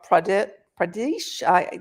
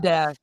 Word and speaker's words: Pradesh: In 2008, the state government of Andhra Pradesh, I messed it up. Pradesh. Thank you.